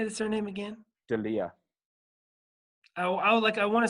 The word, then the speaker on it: D'Elia: D'Elia.